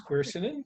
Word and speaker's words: quercetin: question from john is do you recommend taking quercetin to help with the side effects i'm not sure if i pronounce that right side effects of the vaccine do you pronounce it exactly correctly it's quercetin um you know quercetin is a great supplement